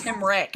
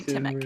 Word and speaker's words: Timic: Is it Timic? Timic. I said Timric. I'm sorry, Timic.